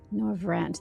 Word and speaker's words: Norvrandt: The flood was poised to swallow Norvrandt. Norvrandt, they do pronounce that R in there. I was missing that earlier.